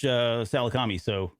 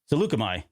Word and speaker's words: Salukami: And then they approach Salakami. Salukami. There you go. I never knew how to pronounce it, so I was super excited.